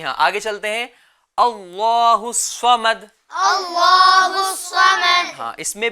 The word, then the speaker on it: الصمد: صحیح تلفظ کیا ہے؟ اللہ الصمد.